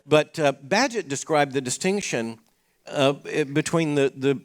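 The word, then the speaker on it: Bagehot: are looking that up it looks like it should be pronounce baggy hot it's not it's an egas siiz French name badget obviously if it's obvious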